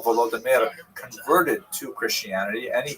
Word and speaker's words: Volodymyr: What's especially important in its history is the conversion of one of its leaders, Volodymyr, pronounced in Russian Vladimir, shown here in a statue overlooking the Dnipro River that runs through the middle of Kiev.